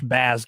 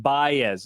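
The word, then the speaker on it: Báez: That was an annoying series, and that Josh Baz guy or whatever. Just Yeah. they put his His cleats. Javi Baez is how it's pronounced.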